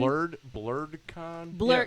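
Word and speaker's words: BlerdCon: BlurredCon? BlurredCon. How do you BlurredCon. spell that? BLERDC, because it's in DC. ON. BLERDC. Yeah, blurred, black nerd.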